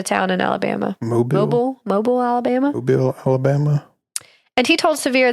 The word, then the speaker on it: Mobile: Mobile, Alabama.